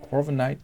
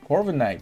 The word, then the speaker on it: Corviknight: And there's a new arrival of Corviknight, and it has changed quite a lot of the things in the meta and the rankings.